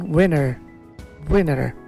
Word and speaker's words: winter: দেন উইন্টার, American উইনার। আর টি উচ্চারণ করছে না, উইন্টার না করে উইনার মানে বিজয়ীর যেমন উচ্চারণ, আর এই শীতকালের উচ্চারণ তেমন আমেরিকান ইংলিশে উইনার।